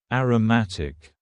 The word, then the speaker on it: aromatic: And please focus on the pronunciation here. Aroma. As a noun. Aromatic.